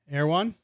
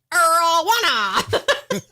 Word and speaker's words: Erewhon: Pronounce that word. Erewhon. Oh my God. You got it. Yeah. Why would I not? Because you never pronounce things right. I was waiting for you to be like, Erwana.